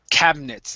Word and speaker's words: cabinets: Okay, so instead of pronouncing that I, okay, it's going to be silent here. So it's cabinets instead of cabinets.